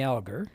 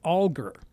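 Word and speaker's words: Alger: last name aler algar well I used to pronounce it fenny algar okay or aler actually and then I met a a man whose last name was spelled that way and he said no no no it's alar and so for several years I was correcting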